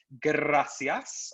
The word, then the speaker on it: gracias: which you probably know is gracias and you have to really roll your r with this gracias all right your turn